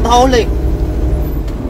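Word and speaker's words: Dhauli: Odia pronunciation धौले, और मंदिर का नाम हुआ विश्व शांति स्तूप या जापानी पागोडा।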